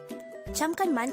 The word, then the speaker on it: 잠깐만: 잠깐만 could be divided into 3 syllables. 잠깐만. Jam is formed from the combination of the sounds of jiut, a, and miyam. Kan is formed from the combination of the sounds of sangkiyok, a, and niyon.